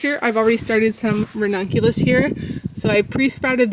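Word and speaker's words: Ranunculus: Here, I'm hardening off some renunculus is how you say it.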